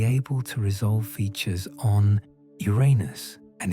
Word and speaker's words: Uranus: Some astronomers advocate for adopting the classical Greek pronunciation, which places the emphasis on the first syllable, making it sound like unus.